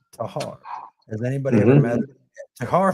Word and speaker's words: Texar: Not too far from our shop is a road called it's spelled Texar, Tahar, but it is pronounced Tahar.